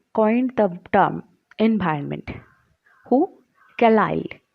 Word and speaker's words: Carlyle: Carlyle. Carlyle, this is the pronunciation of this word, Carlyle, who coined the term environment in the year 1828 in Scotland.